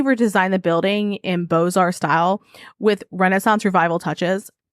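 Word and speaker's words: Beaux-Arts: you to know that that's spelled bow Arts so I I looked at no less than three ources to verify how it was pronounced because I was like what but so it's boar Style with Renaissance Revival touches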